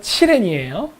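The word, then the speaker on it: 祁連: 자, 기련은 중국 발음으로 칠엔이에요.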